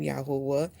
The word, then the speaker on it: Yahuah: So how you can get understanding, how did I come to this way of pronouncing His name, Yahuwah?